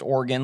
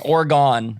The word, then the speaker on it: Oregon: being from the midwest you pronounced organ like i do organ have you ever heard anyone pronounce that state any different maybe just more you know just putting the emphasis on a different syllable yes gone oregon oregon is the one i hear from east coasters all the time i